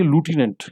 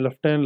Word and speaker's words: lieutenant: नाउ लेफ्टिनेंट की जो accurate spelling है LIEUTENANT, इसको हम पढ़ेंगे लूटिनेंट। अगर जो सही और दुरुस्त प्रोनाउंसिएशन अंग्रेजी ज़बान में, तो उसको हम लूटिनेंट कहेंगे, लेकिन हम अपनी ज़बान में और फ़ियाम में लेफ्टिनेंट लेफ्टिनेंट भी कहते रहते हैं।